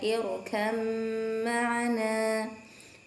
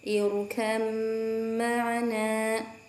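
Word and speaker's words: ارْكَبْ مَعَنَا: Yang selanjutnya adalah lafaz irkab ma'ana, dibacanya irkam ma'ana, irkam ma'ana.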